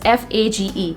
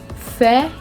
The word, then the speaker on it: Fage: going to pronounce it, as Fage, but it's wrong. The correct pronunciation of this word is Faye.